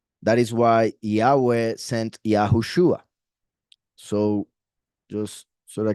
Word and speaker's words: Yahushua: So Yahushua is the true pronunciation.